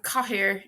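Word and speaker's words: cathaoir: It can be pronounced Oberwalia either, like a W. Laba is bed. Laba. And Cahir is chair.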